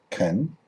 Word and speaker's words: can: Can, fully pronounced can, in its reduced form kun.